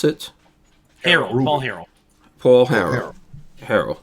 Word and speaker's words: Harrell: So James Earl Jones and Paul, how do you pronounce it? Harrell.